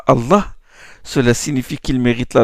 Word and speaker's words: Allah: Mais le I a été retranché, a été enlevé par souci d'allègement dans la prononciation. C'est comme une sorte d'élision en français. Donc, au lieu de dire Al-Ilah, les Arabes disent Allah. Al-Ilah vient du verbe Aliha.